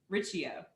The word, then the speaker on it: Riccio: much and i want to say it right richio there you go you got it yeah all